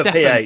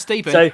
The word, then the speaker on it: Stephen: It's with Stefan. It's not Stephen. It's fucking Stefan. It's fucking Stefan. A PH makes a f sound.